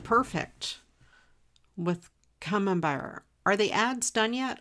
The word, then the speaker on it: Camembert: Camembert.